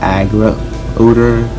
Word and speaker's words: Agrodar: below it's pronounced it it's pronounced aggro odor as in like the name comes from aggro and badger so here we go